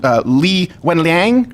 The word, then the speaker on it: Li Wenliang: Am I pronouncing this right? Dr. Li Wenliang.